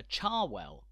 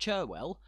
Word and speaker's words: Cherwell: do it is on the river Char well not sure well but Char well though bizarrely the name of the District of Oxfordshire which the river flows through is actually called cherwell not charwell the University's colleges are